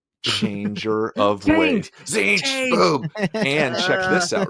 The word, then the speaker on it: Tzeentch: The G is silent in Tzeentch and not even seen. It's in the word Tzeentch. You just never see it.